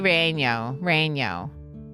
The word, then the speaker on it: relleno: Chile relleno. Oh, yeah, because you don't pronounce the L's.